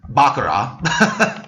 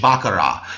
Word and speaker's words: Baccarat: is actually pronounced um bakara the t is silent actually if you replace just picture the t uh replaced with an H bakara it's a French word